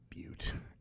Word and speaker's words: Butte: show I was watching but someone said that and then the clerk was like I believe it's pronounced Butte and then one was like really surprised I think it's but I'm gonna show ya